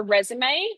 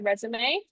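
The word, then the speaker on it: résumé: Um, in Australian jobs, you often might be asked for a CV or a resume. We taught a resume spelled like resume. Same spelling, different pronunciation.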